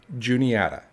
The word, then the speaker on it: Juniata: named after a stone the proper pronunciation of this river is juniata not any other way regardless of what you